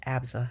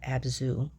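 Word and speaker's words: ABZÛ: First up is Abza, and it's pronounced Abza, not Abzu.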